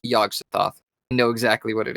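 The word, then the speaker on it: Yog-Sothoth: It is pronounced Yagsthoth.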